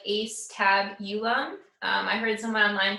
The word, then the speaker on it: Acetabulum: But the Acetabulum, so it's spelled like Acetabulum.